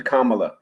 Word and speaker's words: Kamala: so i'm calling her camera like the way the indians pronounce it is kamala because she was based